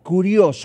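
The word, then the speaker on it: κύριος: Y esta palabra curios con acento en la U con K de kilo, es una palabra en el Antiguo Testamento, ¿verdad?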